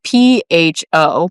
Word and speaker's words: pho: Do you guys, have you, either of you ever had ramen or pho? Yes. It's kind of like ramen. No, it's spelled it's spelled PHO, but you pronounce it like pho.